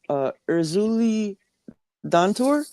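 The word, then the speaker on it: Erzulie Dantor: Uh, how do you pronounce it? Erzuli Dantur.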